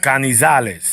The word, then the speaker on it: Canizales: Kenshiro Taraji versus Carlos Canizales. I'm saying that right? Canizales? No. No. You gotta let the tongue roll. You gotta let the tongue roll. Go ahead. Canizales.